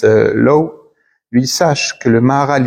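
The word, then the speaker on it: Loew: Alors, on l'appelle Liva, mais on on le prononce Low.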